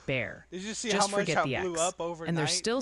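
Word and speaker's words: Bexar: Beckar County is pronounced bare blew up and they're still sending you vigorous notes on Zelon, PA.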